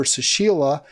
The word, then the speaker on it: Sushila: That's her sister, Sushila, I believe is how it's pronounced.